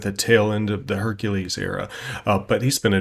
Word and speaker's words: Hercules: might have to agree it's hercules or heracles but we're gonna use the latin pronunciation hercules through this because the most iconic image of hercules that i think we